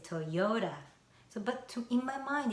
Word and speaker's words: Toyota: Because of American way, yo has the stress, Toyo. And then this TA, American people don't pronounce T as T, but like flapped sound, ra. So I say Toyota.